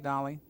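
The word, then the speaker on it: Dalí: Dali, of course, my name rhymes with Tali, Dali.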